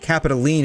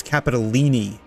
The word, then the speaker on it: Capitolini: Oh, they pronounce the E at the end. It's not Capitoline, it's Capitolini.